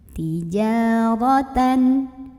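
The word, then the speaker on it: تِجَارَةً: Tijaratan. Ro-nya dibunyikan secara tafkhim karena ro berbaris dan barisnya di atas ya. Maka bacanya tebal, pangkal lidah dinaikkan.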